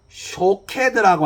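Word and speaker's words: שׁוֹקֵד: 파수꾼이라는이 단어는 자음이 똑같습니다 근데 거기에 몸이 붙어 가지고 첫 번째 나오는이 살구나무는 샤케드라 이렇게 우리가 부르게 되고 살구나무와 똑같은이 자음을 가진이 쇼캐드라고 하는이 히브리어에 지키다 지켜보다라는 그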